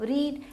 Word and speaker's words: read: मतलब ऑलरेडी, पढ़ना मतलब रीड, तो रीड, रेड, रेड, लेकिन हम लिखते उसको रीड ही है, READ स्पेल करेंगे, लेकिन उसका जो प्रोनाउंसिएशन होता है वो रेड हो जाता है।